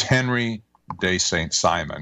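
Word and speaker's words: Henri de Saint-Simon: henry d st simon i won't pronounce it in the french way because you wouldn't understand it but it's henry day saint simon he lived between 1760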